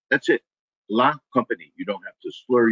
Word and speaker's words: La Compagnie: It is company with a la in front of it. That's it. La Compagnie.